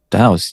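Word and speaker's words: dhows: Dows, how do you say that? Dows, right? Dows.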